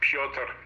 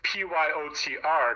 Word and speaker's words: Piotr: friends, I told them that my name is Piotr, and for fun, they would deliberately mispronounce it as Piotr. Piotr. Yeah. Yep, because it's Pyotr if you try to spell it like the Russian way, and they would say Piotr for giggles.